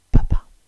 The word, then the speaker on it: Papà: Mamma, Mamma, perfetto Dad, Papà, Papà, con l'accento qui, perché senza l'accento diventerebbe Papa ed è colui religioso... sapete chi è il Papa Ma qui è Papà